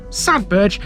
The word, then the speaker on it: Sadberge: Sadbur has the honor of starting off the entire county. Often mispronounced by non-locals, the name of this one